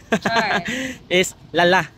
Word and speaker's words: Lala: rock sure na tulog klala the correct pronunciation of this Municipality in English Lala L Lala lal lalak L del Norte G